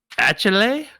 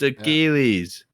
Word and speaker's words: Achilles: Is this Achille? Achille is back. Achille Hannon? No, you dummy. It's Achilles.